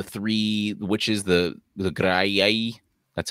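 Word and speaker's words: Graeae: with the the three The Witches the the gray that's how it's pronounced who shared the eye right um and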